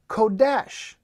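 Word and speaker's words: חֹדֶשׁ: And you find out that that word is Strong's word 2320, and it's pronounced Kodesh.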